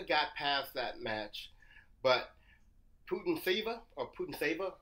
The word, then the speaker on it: Putintseva: But Putintseva, how do you say her name, Isaac? Yeah, that's right, Putintseva.